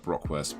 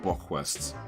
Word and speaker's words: Bockwurst: Maybe I said it wrong. Bockwurst, not Brockwurst. Bockwurst.